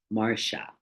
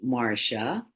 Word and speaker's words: Marcia: the other two episodes my mother's intention was that my name be pronounced Marsha um it was it